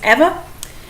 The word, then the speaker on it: Eva: and only ever green either I pronounce it Eva some people might pronounce it Eva I think it's Eva yes Miss Eva Green